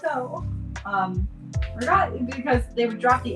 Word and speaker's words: ricotta: And it's ricotta. The Italian-Americans say ricotta, but that's not Italian, so drives me crazy.